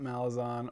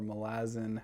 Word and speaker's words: Malazan: know i talk about malazon or malazan however you want to pronounce it a lot on this